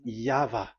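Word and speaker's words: Yahweh: The pronunciation pronunciation is equal V. It is V. Y H V H. So it is Yava.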